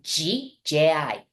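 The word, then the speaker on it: ぢ: with the G right it's de I you may want to pronounce it like Z but we really pronounce it like g j i and then we move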